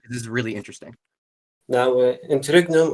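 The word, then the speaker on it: interregnum: is really interesting now internum or something I forgot how it's pronounced interum is the correct pronunciation of that word if if that's yes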